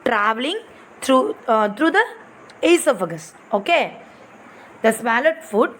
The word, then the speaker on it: esophagus: furgus see this here this o is silent you know need to pronounce this o you have to read iso esophagus means that is food